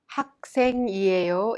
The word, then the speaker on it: 학생이에요: Let's take a look at the pronunciation. 학생이에요. is pronounced 학생이에요. There is a final consonant 기억 in and this final consonant temporarily holds the sound and breaks it in order to make a sound. Thus the syllable that follows is impacted. The생 is pronounced in a strong sound like 학생.